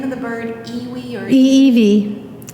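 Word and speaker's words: ʻiʻiwi: And is the name of the bird Iwi or Eevee. The W is often pronounced kind of as a V. Iwi? Eevee.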